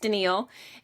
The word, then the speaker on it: Danielle: I'm Danielle. It's spelled like Danielle, pronounced Danielle.